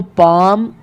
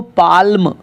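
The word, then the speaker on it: palm: भी L silent तो पाम could walk इनको पाल्म या कुड या वाल्क ऐसे नहीं पढ़ेंगे इनका सही उच्चारण रहेगा पाम पाम कुड कुड और इसको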